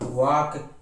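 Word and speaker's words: walk: फाक, half, hoc ना, palm, Simon, should, torque, वाक, would, yak.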